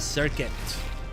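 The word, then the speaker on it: Serket: the same enemy to make a circuit. Feels like I really got to say circuit because it's spelled S E R K E T.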